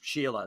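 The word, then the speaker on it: Shelagh: s-e-s-h-e-l-a-g-h but it she's sheila that's how you pronounce that it's irish she thought it sounded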